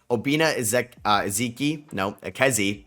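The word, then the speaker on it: Obinna Ekezie: It looks like Obina Ekezi, that's how you say it, Jr., 7 foot tall out of USC.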